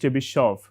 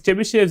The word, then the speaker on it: Chebyshev: I believe it is pronounced Chebyshev and it is pronounced with a T, Z and so on, right.